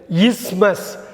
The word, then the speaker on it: isthmus: அடுத்து நம்ம பார்க்க போகிற மிஸ்ப்ரொனவுன்ஸ்டு வேர்டு வந்து இஸ்மஸ். ISTHMUS. ISTHMUSஸை THஐ நம்ம உச்சரிக்காமல் இஸ்மஸ்ன்னு படிக்கணும். இன்கேஸ் நீங்கள் இஸ்மஸ் அப்படின்லாம் படிக்கிறதுக்கு வாய்ப்பு இருந்தால் படிக்கக்கூடாது. ஏன்னாக்கா அந்த TH வந்து இங்கே சைலண்ட். இஸ்மஸ் அப்படின்னாக்கா ஒரு நிலப்பகுதி, ஒரு குறுகிய நிலப்பகுதி, அது 2 பக்கமும் தண்ணீர் இருக்கும்.